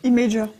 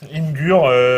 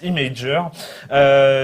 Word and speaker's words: Imgur: Imager. Oui, alors, d'accord, ok. Non, mais il faut en parler. À un moment, il faut en parler. Il a dit, ça se prononce Imager.